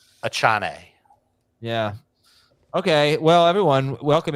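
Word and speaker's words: Achane: have uh Jones and a chain oh that's not how you pronounce it a Chan yeah okay well everyone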